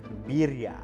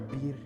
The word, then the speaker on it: birria: Birria. How do you say El Sauz? You gotta roll the R. Birria.